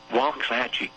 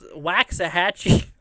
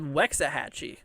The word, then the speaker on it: Waxahachie: Waxahachie. I think it said Wexahachie. But Weather Radio is weird sometimes. It doesn't pronounce everything correctly.